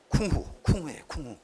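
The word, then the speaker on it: 工夫: 중국 이거 어떻게 발음해요? 예, 쿵후예요. 쿵후.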